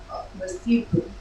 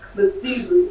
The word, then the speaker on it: Lesotho: It's the second syllable gets the accent. Lesotho. Yeah, just like that. With the head nod. Lesotho.